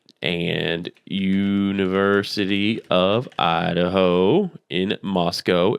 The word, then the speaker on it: Moscow: So if you don't know, Washington State University and University of Idaho in Moscow, it's pronounced Moscow. If you don't pronounce it Moscow, they will yell at you, are only 7 miles apart.